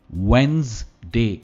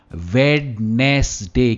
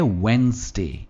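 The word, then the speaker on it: Wednesday: इट इज नॉट वेडनेसडे, क्योंकि हम जैसा लिखा है उसे वैसे प्रोनाउंस करने की कोशिश करते हैं, वेडनेस कहते हैं, पर यह है वेडनेसडे। इट्स वेडनेसडे, stress veins पर आता है, वेडनेसडे।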